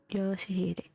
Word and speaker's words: Yoshihide: No, that's not how you read those letters. Yoshihide. That's how you say it.